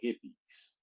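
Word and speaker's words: Hippeas: vegan chips they call hippies you know like a hippie but it's spelled uh with peas at the end like you eating green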